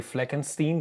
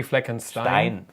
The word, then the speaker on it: Fleckenstein: pronounce it the well people in the u.s they say fleckenstein by nature because the e comes first so um correct would be fleckenstein yeah stein if you